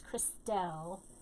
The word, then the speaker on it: Christelle: hi chris now christelle christol christelle how do you say your name my name is christelle um and i hate it